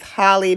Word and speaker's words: Halle: pronouncing her name wrong it is not Haley it's Holly Bailey just recently on February